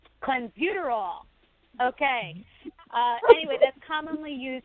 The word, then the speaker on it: clenbuterol: it JB you know how you say that clenbuterol clenbuterol okay anyway this commonly used by ranchers in